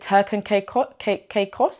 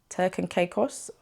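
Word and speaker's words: Turks and Caicos: Is it Turk and Caicos? Is that how you say it? Turk and Caicos?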